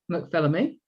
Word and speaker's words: McPhilemy: Her name is Deborah McPhilemy. Did I pronounce that correctly?